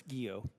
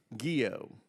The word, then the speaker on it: Guillot: Southern command General Gregory gillo how do you pronounce that chairman it's guo guo thank you all right